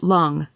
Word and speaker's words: Lang: person's report please valerie l-a-n-g pronounced like lung age 57 traveling alone